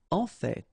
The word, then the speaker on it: en fait: En fait. So whether you pronounce the final T or not, you can hear both. En fait, en fait, en fait. I'd rather pronounce it personally.